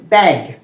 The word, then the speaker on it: ত্যাগ: তো প্রথম যে নিয়মটা রয়েছে সেটা হচ্ছে যে যদি কোনো শব্দের প্রথম বর্ণের সাথেই জফলা থাকে সেক্ষেত্রে সেই বর্ণটির উচ্চারণ হবে কিসের মতো, এর মতো, এ, এ।